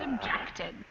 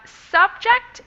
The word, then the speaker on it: subject: the pronunciation we've got subject and subject the stress yeah the word stress has moved like we mentioned earlier with that pattern from noun to verb what I understand in